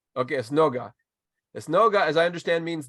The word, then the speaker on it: esnoga: Which Esnoga. in Spanish we say sinagoga. So this is esnoga. We call it esnoga. Okay, Esnoga.